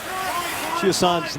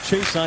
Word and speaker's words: Chiasson: Chiasson's name widely pronounced Chason. He said he's okay with that. But when we talked to him in November, he would prefer Chiasson.